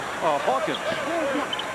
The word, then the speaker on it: Hawkins: 73-67, or rather, Hawkins. Sounds like Dawkins. Rhymes with it.